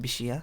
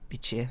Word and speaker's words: bichir: And I've googled it, apparently it's pronounced bishia, not bichir, as I kept saying.